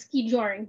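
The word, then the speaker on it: skijoring: Hi, as I've heard, it's pronounced ski-joring, but yes, we enjoy having the dogs do some of the work too while we go out cross-country skiing.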